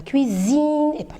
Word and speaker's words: cuisine: france le maire prépare un repas dans la cuisine cuisine cuisine de mettre un seul s entraîner de loyer pour pouvoir prononcer cuisine et voilà on est arrivé la